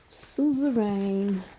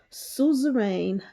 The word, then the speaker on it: suzerain: r a i n like sue's s u z e rain vazzle v-a-s-s-a-l covenant now